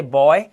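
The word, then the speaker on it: boy: आगे चलो, जब किसी वर्ड में डबल ओ आएगा तो डबल ओ का उच्चारण ऊ, ऊ, जैसे कूल, रूम, सून, जूम, ऊ की आवाज। आगे चलते हैं, कुछ वर्ड्स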